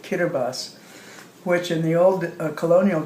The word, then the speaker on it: Kiribati: spelled k-i-r-i-b-a-t-i Kiribati but they pronounce t as s and so they pronounce it kiribus which in the old